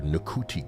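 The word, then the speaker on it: Ncuti: Previously, uh the Doctor Who uh actor Niki Gatwa, probably the N is silent.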